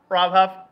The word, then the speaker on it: Huff: Rob Huff, great, man. It is huff, right? Yes. I am saying it right.